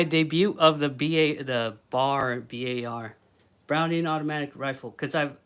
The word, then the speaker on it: BAR: I always pronounce it B A R.